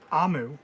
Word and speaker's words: Omu: note to the reader amu pronounced amu is the igbo term